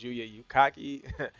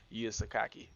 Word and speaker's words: Yuya Sakaki: Okay, so I got his name wrong. I thought it was Yuya Yukaki. Yuya Sakaki.